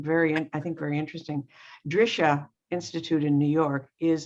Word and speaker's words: Drisha: at eight o'clock to nine o'clock uh the drishar programs are free although they ask you to